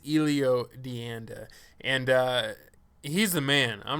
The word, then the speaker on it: Elio Dianda: And I always say his name wrong. Sometimes I say Elio, sometimes I say Elio, but I believe it's Elio Dianda.